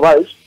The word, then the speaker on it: Valls: A ver, tío, yo digo Valls, es como Arturo Valls. No, mira, no, te lo enseño a decir. Tienes que pronunciarlo con I, Valls, y entonces quedas bien.